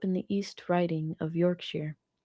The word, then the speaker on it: Yorkshire: When I was a kid, I grew up in the East Riding of Yorkshire. That's pronounced sure. Not shire.